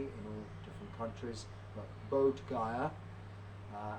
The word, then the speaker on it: Bodh Gaya: You may have heard of it, it's pronounced differently in all different countries, but Bodh Gaya, as in Bodh, Buddha, and Bodhi tree, and Gaya is kind